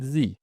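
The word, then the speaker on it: Sie: مثال على ده كلمه مثلا زي، زي يعني حضرتك، نطق زي، دي بعدها اس بعدها اي اي هتبقى زي.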